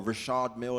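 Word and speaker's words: Richard Mille: Lamborghini and the Rolls-Royce and the Richard or Rashad Mill as we say it right and all the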